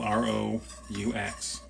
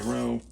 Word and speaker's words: roux: Basically what you're doing here is you're making a roux. It's spelled R-O-U-X. Some people say roux, some people say roux. But it's really a roux.